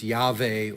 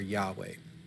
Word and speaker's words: Yahweh: might be pronounced but most people would use yave or yahweh as a way to pronounce this now you'll notice that